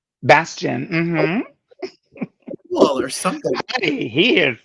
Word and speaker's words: Bastien: Bastien? Bastion.